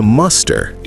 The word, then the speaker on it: muster: Let's pronounce it correctly first. To muster. Muster. And the past tense is mustered. Exactly the same as this word mustard.